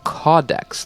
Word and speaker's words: caudex: So that word is caudex. That's spelled C-A-U-D-E-X.